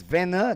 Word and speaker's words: Vena: Vena will get not Dwight Veno, it's Vena.